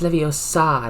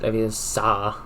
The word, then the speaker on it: Leviosa: it's pronounced Leviosa, not Leviosa. I think, right?